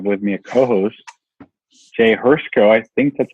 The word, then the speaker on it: Hrsko: enough to work okay actually do you pronounce it if you don't mind sharing Hearst go like to see is silent okay Haruko alright cool